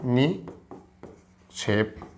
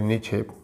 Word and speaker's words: निक्षेप: गया क्षेप बन गया निक्षेप ऐसा बोला जाता है उच्चारण कुछ और रहता है बनाना कैसे होता है जी नि सही है नि क्षेप बस सॉरी निक्षेप बस पढ़ा जाता है निक्षेप क्या पढ़ जाता